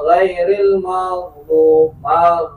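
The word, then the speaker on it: غَيْرِ الْمَغْضُوبِ: Maka belajar kalau tidak sesuai, contoh ghain, siratal ladzina an'amta 'alaihim ghairil maghdub, ghain, jangan ghairil maghdu. Atau saking ininya banget dia akhirnya ghain jadi hamzah, ghairil ma'du. Nah, ini nggak bisa.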